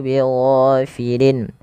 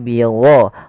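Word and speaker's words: غافلين: Wa mallahu bighafilin. Ghain panjangkan 2 harakat dan dia jangan dibaca dengan go. Jangan bighafilin ya, tapi bigho.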